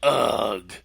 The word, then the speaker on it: UG: Tuesday night right so is it like ug comedy is that how it's pronounced like a caveman like ug yeah well basically it